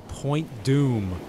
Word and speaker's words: Point Dume: About a 30-minute drive to Malibu Beach, we came to Point Dume. Sounds scary, but it's spelled D-U-M-E.